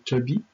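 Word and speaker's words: Tobit: Il y a le père qui s'appelle Toby, mais ça s'écrit un peu différemment. C'est T-O-B-I-T.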